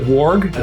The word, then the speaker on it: warg: Is it warg or warg? I pronounce it warg. Our New Zealand fans probably pronounce it warg as it's pronounced in the films.